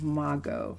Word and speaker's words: Maggot: It's Mago, not Mago, Mago. It's spelt maggot, but it's pronounced Mago, like his name is Posco, Mago.